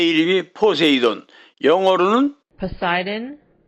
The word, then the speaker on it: Poseidon: 이 영화에 나오는 배 이름이 포세이돈, 영어로는 Poseidon. Poseidon. 이라고 발음합니다.